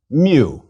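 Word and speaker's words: μυ: Mu. Mu is equivalent to M and pronounced like the M in man.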